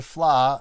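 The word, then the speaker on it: Fleadh: that out the Philadelphia fly uh you can just Google search Philadelphia Flower and you'll find information spell that for them f-l-e-a-d-h yeah it's Irish yeah it's a very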